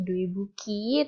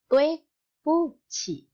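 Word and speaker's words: 对不起: Jadi ingat-ingat kalau misalkan ada ini dui buki, tolong jangan dibaca tokpoki ya, atau dibaca dui buki, tapi dibacanya tue puci.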